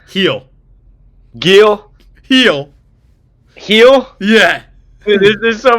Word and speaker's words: Gil: Gill, right? That's how you say it. Heel.